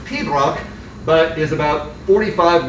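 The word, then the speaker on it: pibroch: up with that is uh gaelic uh and pronounced pedroc but is about 45 letters long and uh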